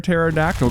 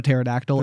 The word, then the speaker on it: pterodactyl: Why can't you hear a pterodactyl going to the bathroom? Because the P is silent. The P is silent. I wish it was silent in my head, but I pronounce it pterodactyl every single time.